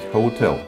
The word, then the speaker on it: hotel: И правильно слово произносить «hotel» с ударением на втором слоге, а все произносят на первый.